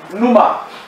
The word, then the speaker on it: pneuma: Pneuma. And pneuma means what? Wind. P-N-E-U-M-A. P-N-E-U-M-A. Pneuma. The P is silent. Pneuma. Just like when you want to spell psychology, you still put what?